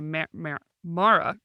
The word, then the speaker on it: Mara: That's why I always go to say Mara.